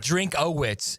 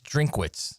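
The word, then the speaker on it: Drinkwitz: It's not drinkits. It's Drink Wits. Uhhuh. That's going to be the new Florida coach. That will be the next Florida coach. Drink wits.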